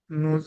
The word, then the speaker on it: nous: nous, Mangeons, nous mangeons, vous mangez, il, elle mange. mange. Don't forget here, nous, hein? Nous don't pronounce S.